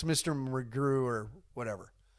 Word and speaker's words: McGrew: McGrew or whatever. Because it rhymes with zoo.